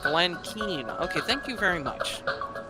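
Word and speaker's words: Keane: being here guys oh oh Matthew says Glenn Kane's name is actually pronounced Glenn Keen okay thank you very much pronunciations are not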